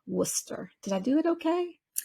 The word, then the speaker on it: Worcester: I believe the name of that town is pronounced Worcester did I do it okay that is proper